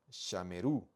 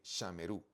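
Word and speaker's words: שָׁמְרוּ: es femenino o masculino Cómo se pronuncia ellos guardaron sheru Okay sheru acento al final la segunda persona masculina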